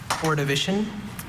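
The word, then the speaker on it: Ordovician: Orivision.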